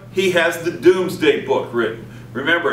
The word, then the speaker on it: Domesday: 4, he has the Doomsday Book written. Remember, it's spelled D-O-M-E-S. It looks like Domesday, it's Doomsday, in which he records everything in the kingdom, so he knows exactly what it is.